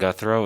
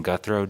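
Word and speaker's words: Guthreau: My name is Guthrow. It's spelled V like Victor, I-N-S-O-N. Last name Guthrow, G-U-T-H-R-E-A-U.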